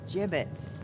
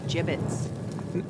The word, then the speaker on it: gibbets: some gibbets left over gibbets what it's pronounced jibbets are you sure yeah